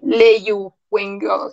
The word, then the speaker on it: Leeuwenhoek: si se escribe así. Leyu Wengo, que se escribe.